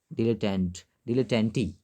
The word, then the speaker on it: dilettante: और इसका प्रोनाउंसिएशन होगा डिलेटेंटी, नॉट डिलेटेंट ना, इसका प्रोनाउंसिएशन जो होगा वो होगा डिलेटेंटी।